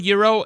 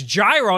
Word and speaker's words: gyro: Were you, hearing the word Euro and you assumed it was spelled E-U-R-O? No, I thought it was gyro, and then someone told me it was Euro.